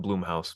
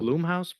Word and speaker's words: Blumhouse: I think it's Yeah. pronounced Bloomhouse, but I don't Blumhouse? I, Blumhouse? I think it I might be Bloomhouse. I don't know. I have no clue.